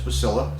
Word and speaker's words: Boslla: I did look up the correct pronunciation. Apparently it's Bossla, so I apologize if I got that wrong.